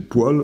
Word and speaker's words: poêle: donc voilà un mot une fois qu'on sait que c'est poil bon mais je l'entends très souvent dire poê est ce que je